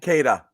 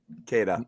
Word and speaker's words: Queta: Queta. Okay, what's his first name? Queta. Nemeas Queta. It's Queta, not Queta, but it's spelled Queta.